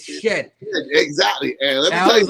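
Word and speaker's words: Shedeur: to pronounce his name it's not Sheed it's shed exactly and let I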